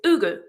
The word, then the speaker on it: Hugo: If you pronounce that using Portuguese phonetics, it's ugu.